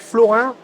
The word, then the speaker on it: Florin: Alors je suis avec Florin. Florin, c'est comme ça qu'on prononce? Oui, c'est ça.